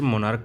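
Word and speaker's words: monarch: जैसे मोनार्क का मोनार्क्स, stomach का स्टोमैक्स। सी एच का उच्चारण क यहाँ पे हो रहा है, इसलिए सिर्फ एस का प्रयोग करके प्लूरल बनाते हैं, ठीक है।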